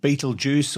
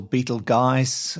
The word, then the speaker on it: Betelgeuse: to another star called Beetlejuice or Beetle guys there are several ways of pronouncing it Fred's always correcting me because I call it Beetlejuice but that's what I've always known it as now in late 2019